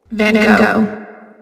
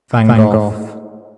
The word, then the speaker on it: Van Gogh: you recognize, obviously, and these are the pronunciations of this gentleman's name. Van Gogh. Van Gogh. Van Gogh. Van Gogh. So the real Dutch is definitely Gogh, right?